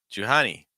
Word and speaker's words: Jani: real quick fast oh Jani Jani not too strong on the H Jani stressing the second Sil again and then Johannes Johannes